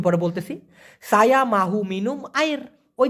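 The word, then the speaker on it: air: পারি নেক্সটে পানি পানিকে মালয়েশিয়ান ভাষায় বলা হয় আইর আমি আবার বলি আইর অনেকে আইর বলে কোন সমস্যা নাই মূলত সঠিক উচ্চারণ হবে এ আই আর আইর এখন এই পানি দিয়ে একটা ছোট্ট বাক্য আপনি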